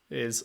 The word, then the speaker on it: AI: of this game apparently the ai is pronounced just i like eyeball which i would not